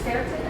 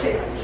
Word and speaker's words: quercetin: I just heard of quercetin, how do you say it? Quercetin. Quercetin. I think it's Quercitin. Yeah, last week.